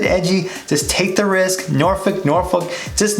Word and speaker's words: Norfolk: often mispronounced is the Norfolk people that are not from here little C n ORF o lk they'll say that see that folk they'll pronounce the folk and nor folk that is the one